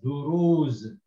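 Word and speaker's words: دروز: And this the ra, it's got dhamma and the waw to elongate it, so it's duru. And the last letter here is a za, so you can read this as duruz.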